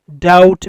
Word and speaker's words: doubt: doubt ویل کیږي شک. په doubt کې بی نه تلفظ کیږي، بی سایلنٹ ده.